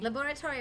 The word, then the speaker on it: laboratory: Y University's Medical Faculty laboratory or laboratory are both accepted pronunciation I know I'm